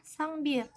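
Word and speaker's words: 쌍비읍: nah huruf ini namanya sangbir pengucapannya seperti huruf P yang ditekan jadi kalau kita gabungkan dengan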